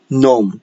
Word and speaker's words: gnome: pronunciation ni, okay, and gnome. Notice that gnome contains a letter G, but we do not pronounce the letter G. We call it the silent letter G, gnome.